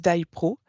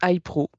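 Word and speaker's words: HiPRO: l'histoire de la Genèse day pro alors nous on le prononce Hypro chacun fait ce qu'il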